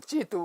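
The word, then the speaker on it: 基督: 한자로 쓰면 이렇게 쓰고 발음하면 찌두 그래요.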